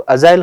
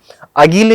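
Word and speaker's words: agile: है, शुद्ध होता है, तो अजाइल हम लोग यूज करते हैं। अगीले यूज नहीं करेंगे इसको, अगीले नहीं बोलना है इसको, अजाइल हम लोग बोलेंगे इसको। ठीक है, इसका जो प्रोनाउंसिएशन है बेटा अजाइल है।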